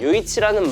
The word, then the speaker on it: 요이치: 라는 말을 한자로 적고 중국어로 읽은 발음이 요이치더라고요. 요이치. 이 이름 때문에 일본 브랜드 또는 중국 브랜드로 알고 계신 분들이 많던데 그냥 이름만 일본 중국스러운 토종 한국 브랜드였습니다. 아무튼 요이치라는 말이 의리 있다라는 의미의 말이라고 해드렸잖아요.